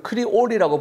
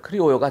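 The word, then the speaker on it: criollo: 그리고 우리가 크리올이라고 부르는데 아마 크리오요 같던데, 크리오요가 더 맞는 발음인 것 같습니다.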